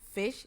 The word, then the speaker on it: vis: So when there is written V-I-S, it's just simply fish, fish. But if it's V-I-E-S, feast, means dirty.